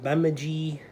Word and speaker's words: Bemidji: it was uh their training camps were at uh i think it's pronounced bemidji state university in northern minnesota